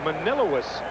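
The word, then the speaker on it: Manlius: new york lives in manila's new york i believe that's the way you pronounce that m-a-n-i-l-u-i-s if it's not i'm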